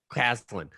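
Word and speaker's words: Caslen: Clausen? Caslin.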